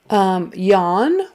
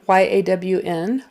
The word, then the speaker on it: yawn: Yawn, Y-A-W-N, like yawn. That A-W in the middle, you pronounce it like a short O.